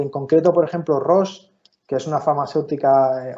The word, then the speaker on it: Roche: Y en concreto, por ejemplo, Roche, que es una farmacéutica, o Roche, si lo pronunciamos en español, es una farmacéutica suiza